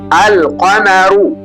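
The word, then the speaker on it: القمر: yake kuu inasema maana yake ni kwamba herufi lam lazima itamkwe wazi kabisa ikiwa na alama ya subun. Angalia neno mfano lililoko hapo juu alqanaru umeona jinsi nilivyotamka ile ni alqamaru hiyo ndio siri ya herufi za mwezi.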